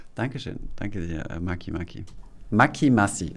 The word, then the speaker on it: Macimace: Macy Mace. Ah, das hilft. Macy Mace. Dankeschön. Danke dir, Maki Maki. Maki Massi, so spricht man es aus.